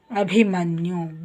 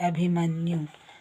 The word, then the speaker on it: ಅಭಿಮನ್ಯು: ಡಿ ಹಚ್ ಇಲ್ಲ ಆಯ್ತ ಹಾಗೆ ಅಭಿಮನ್ಯು ಬಿಹಚ್ ಐ ಭಿ ಅಭಿಮನ್ಯು ಹಾಗೆ ಅಭಿಜಿತ್ ಬಿಹಚ್ ಐ